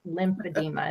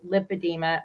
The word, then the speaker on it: lipedema: Actually, I asked the nurse, because she kept telling me, you're saying it wrong. It's lymphedema. And I said, no, it's lipedema.